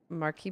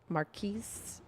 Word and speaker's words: Marquis: Marquis. The E after the S means you should pronounce it. Is that how that works? Okay. Marquis.